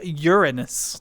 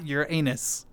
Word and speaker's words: Uranus: It's pronounced Uranus, not Uran anus.